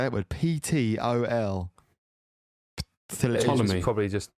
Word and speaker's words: Ptolemy: Ptolemy. You probably don't pronounce the P. It's probably like Ptolemaic dynasty of King Ptolemy.